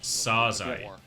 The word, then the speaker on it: Phase: The pronunciation of Phase is not Phase, but Pasaze. Pasaze? Pasaze. It's definitely they need to figure out. But Pasaze? it's not because they're played bad. I think in Korean, 4 is read as Sa. In first meeting with Runner pronounced it Phase as Saze. And thus it was settled to call Phase Saze.